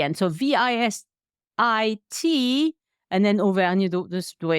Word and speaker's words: Auvergne: She's from Auvergne, and we both love the countryside.